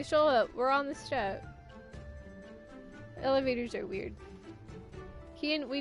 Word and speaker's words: Steppe: We're on the step. Elevators are weird. Kian, we don't. No, it's step. It's step. It's not steep. It's step. The E at the end is silent.